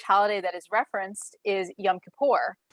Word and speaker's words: Yom Kippur: that is referenced is yom kippur which she pronounced as young kipper um yom kippur is